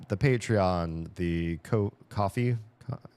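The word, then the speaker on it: Ko-fi: Patreon, the co coffee coffee I always want to call it Kofi because the way it's spelled, but coffee Patreon uh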